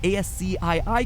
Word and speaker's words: ASCII: turned out to be ASCI i codes for different letters of the alphabet for those of you who don't know ASCI i codes or ascii codes as it's properly pronounced cringe is so real